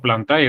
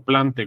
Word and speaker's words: Plantae: el origen de Plantae, que técnicamente, o Plantae o Plante, como lo quieran pronunciar, realmente no existe una regla, ¿no? Para decir Plante o Plantae, es lo mismo.